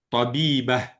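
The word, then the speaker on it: طبيبة: Non tab on a dit le tamarbouta ça là à la fin on prononce pas on dit tabib et à la place du ta on dit on prononce un ha tabibah mhadis mohis moh dis Ça dit quoi ?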